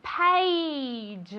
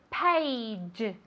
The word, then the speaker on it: page: Very good, page. Vale, esto es difícil de pronunciar. Se escribe con una A, pero se pronuncia como si fuera E-I. ¿Vale? Page, page.